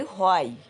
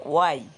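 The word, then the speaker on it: why: আমরা বলি হোয়াই, এর সঠিক উচ্চারণ হচ্ছে ওয়াই।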